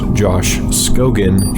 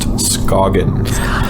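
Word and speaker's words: Scogin: It's not pronounced Josh Scogan. It is pronounced Scoggin.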